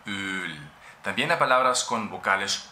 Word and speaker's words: Öl: Öl. Öl. Esto es una vocal larga. Öl.